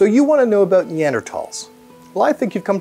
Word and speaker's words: Neanderthal: English speakers have ignored that silent H for over a century now, so it's technically fine to say Thal.